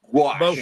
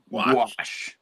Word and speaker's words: gouache: I've been saying gauche all this time. That's which what I've been I thinking. know is very gauche of me. Gouache. Yeah. Gouache.